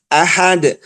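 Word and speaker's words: أحد: ya Qul huallahu ahad ahad allahus Somad bukan Ahad bukan Somad Kenapa dibacanya Ahad dalnya ada mantul itu kenapa Dal punya sifat namanya Qalqalah ya jadi Itulah salah satu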